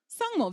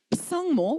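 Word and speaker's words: བཟང་མོ: Sangmo, very popular name, but we don't say psangmo, we say sangmo.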